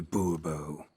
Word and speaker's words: Bourbeau: Fine, Monsieur de Bourbeau. The emphasis falls on the last syllable. Bourbeau? Now you're pushing it.